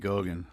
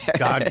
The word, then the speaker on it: Goggins: My man, this is just a younger version of David Goggin. Did I say his name David right? Goggins.